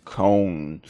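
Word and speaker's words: Köln: the English and French pronunciation but the German pronunciation is Con so yeah I make sure to get this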